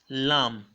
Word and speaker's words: lamb: The first word there is lamb. Listen to me again. Lamb. I didn't say lamb. Okay, so the B there is silent and so shouldn't sound out.